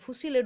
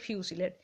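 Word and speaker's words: fusillade: ফুসিলেড উচ্চারণ নয়, ওটা ফিউসিলেড, মানে rapid shooting from a number of rifles or other fire arms বলতে পারো অলসো সাইমালটেনাসলি, ঠিক আছে।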